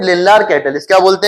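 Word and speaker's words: Lindlar: लिंडलार catalyst. क्या बोलते हैं? वैसे ये डी साइलेंट रहता है। लिंडलार catalyst.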